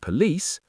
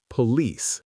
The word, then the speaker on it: police: Hotel, event, and police or hotel, event, police? The correct answer is B stressed on the second syllable. hotel, event, police.